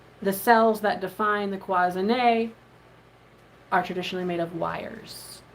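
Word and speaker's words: cloisonné: cloisonne.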